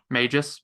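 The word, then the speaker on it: Mejis: May his or Mages do they pronounce the h I think the J is an H there yeah Mages um his his journey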